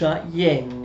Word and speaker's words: Jenny: the long ri with the j it is pronounced hyene in agreement his girlfriend the annie gli annie